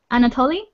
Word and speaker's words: Anatole: what and um see i'm sorry if i'm pronouncing your name wrong um Anatole is that how you say your name yes yes that's right I use it during